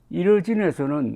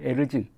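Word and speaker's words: Erzin: 그 주변 지역은 피해가 막심한데 이 주의 이 도시 이르진에서는 놀랍게도 사망자가 한 명도 없답니다. 에르진이라고 그래야 되겠군요. 정확하게 발음이 에르진.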